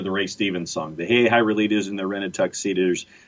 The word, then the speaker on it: Hahira: It is pronounced in Hey, Hira as Hey, Hira. Uh-huh. That might not actually be the right way to pronounce it. Well, I was going to say, here in the state of Georgia, Hey Hira is Hey Hira.